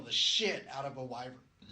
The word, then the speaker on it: wyvern: shit out of a wyvern. Am I saying it right now? What, Wyvern? Wyvern. Yeah. Okay. Yeah.